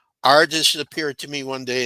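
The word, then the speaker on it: rJis: small I small s so it's pronounced Ares Ares appeared to me one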